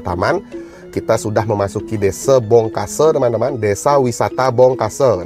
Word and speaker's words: Bongkasa: kita sudah memasuki Desa Bongkase teman-teman, Desa Wisata Bongkase. Nah, Bongkasa begitu tulisannya. Kalau orang Bali bilang Bongkasa, jadi di A-nya itu diganti dibacanya jadi E seperti itu teman-teman semuanya.